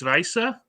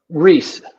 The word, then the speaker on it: Riese: the next one now I called it project Raisa but I must have been mispronouncing it's okay it's Rhys so as escape from approaches Riza Riza and Riza is uh it's an actual